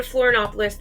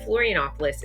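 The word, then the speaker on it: Florianópolis: that that'd be embarrassing so we flew to floron opoulos that night from Rio and flop FL Florianopolis I got to say it right Florianopolis is kind of um smaller compared to the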